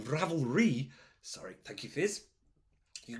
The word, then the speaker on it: Ravelry: that go find it unravel and oh sorry yes apparently I've been saying it wrong Ravelry sorry thank you fizz